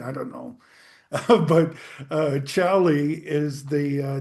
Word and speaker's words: Xali: Chalie Gold um is a it's spelled X A L I. The Mexican way of saying it, which is where I am, is Chali.